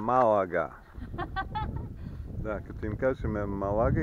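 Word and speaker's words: Málaga: на стотина километра преди малага малага малага да като им кажем малага и те не разбират като им кажем малага веднага се сеща удариш както трябва ударението ударението а пак сме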